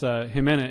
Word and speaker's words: Ximena: Yes, Jimena is how you pronounce it, by the way.